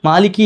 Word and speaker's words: مَالِكِ: കാരണം ഇത് കുറെയൊക്കെ നമുക്ക് എന്ത് ചെയ്യാം പ്രാക്ടീസ് ചെയ്യാനുള്ള അവസരങ്ങളാണല്ലോ യൗമി യൗമി പറയ യൗമി മാലിക്കി യൗമി മാലിക്കി യൗമി അത് കൂട്ടി മാലിക്കോ എന്ന് പറയാൻ പാടില്ല എന്നുള്ള മാലിക്കോ മാലിക്കോമി അങ്ങനെയല്ല മാലിക്കി യൗമി ഇനിശേഷം അദീൻ മീമിന്റെ ഞാൻ